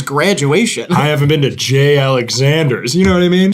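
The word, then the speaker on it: J. Alexander's: I haven't been to Jay Alexanders you know what I mean Jesus everyone knows Jay Alexanders this is where the Savages time first of all it's pronounced jalexanders jalexander in and- out it's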